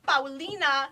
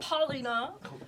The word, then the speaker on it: Paulina: No, I want to say it correctly because my name is Paulina, not Paulina or Paulina.